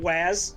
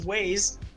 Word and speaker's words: Waze: I kept calling it I kept calling it Waz until I heard it pronounced one time. I'm like, oh, it makes more sense as Waze.